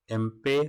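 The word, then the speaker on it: Impey: Elijah एम्पे कहीं मिलेगा या इम्पे मिलेगा, वही बात है, ये प्रोनाउंसिएशन का फर्क आता है, ठीक है।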